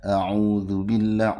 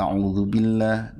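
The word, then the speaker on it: أعوذ بالله: a'udzubillah, u-nya panjang ya. Nah, tapi ada yang pendek itu yang bacanya a'udzubillah.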